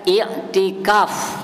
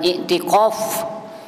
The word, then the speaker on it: iktikaf: ya arti anak ya Ini bacanya iktikaf pakai Kaf bukan pakai Kaf pakai Kaf Bukan ikqf tapi iktikaf ya iktikaf itu secara bahasa